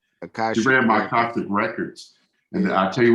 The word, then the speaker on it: Akashic: I had this lady read my, I'm going to mispronounce it again, Artistic Records. And she told me, I say it again, I'm going to get this right one day, Tori. Akashic. She read my Akashic Records.